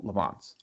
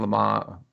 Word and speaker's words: Le Mans: that is still available lavon's i think le mans let me say it correctly uh le man i think is one